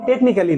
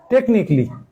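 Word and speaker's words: technically: slide change করা হয় দেখেন টেকনিকলি টেকনিকলি এর উচ্চারণ কিন্তু টেকনিক্যালি না টেকনিকলি টেকনিকলি উচ্চারণের সময় এই এটা বাদ থাকে এটা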